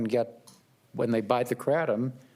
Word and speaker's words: kratom: How do you pronounce the word that is spelled K-R-A-T-O-M? Well, there's kratom. I pronounce it kratom. And when I went to Southeast Asia, they said kratom or kratom.